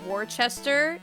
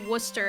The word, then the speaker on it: Worcester: a town in Massachusetts that looks like it's Worchester you pronounce it Worcester or like it's it it it kind of looks like Worster like the speed run I have to double check but like it's pronounced Worster and if people pronounce it wrong they get